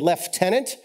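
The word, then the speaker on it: lieutenant: an H in it I keep waiting for the F and left tenant and I'm not really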